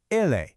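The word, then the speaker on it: elle: For he is, it's ille. For she is, it's a slightly softer la. It's a really subtle difference, but it's an important one.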